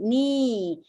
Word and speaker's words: knee: KN is N sound, right? This is another example of digraph, and then E is not here, even though there are two E, but it's not magic E because it's just E sound, knee, but the other one is a magic E.